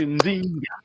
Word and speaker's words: Nzinga: Oh, it almost sounds like Zinga. Zinga. No. Yeah, you're right. You pronounced correct in Zinga.